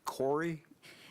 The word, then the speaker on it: PCORI: further comments or questions that's pronounced corey it's actually the patient centered outcomes research institute i'll mark that down